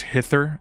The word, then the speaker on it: hither: pronounced them differently yeah that sound in the middle is not voiced the the and hither it's it's an unvoiced th so it's hither and thither so what what is